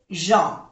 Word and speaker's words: gens: Ya sabemos que se pronuncia E porque tiene ES, es plural, les gens. Aquí tenemos otra vocal nasal, EN, en, gens, que no se pronuncia la S, que es de plural, pero no se pronuncia.